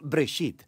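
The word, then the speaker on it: בראשית: escuchado se llama génesis génesis viene de una palabra hebrea se pronuncia break sit simplemente significa principio hay muchas historias en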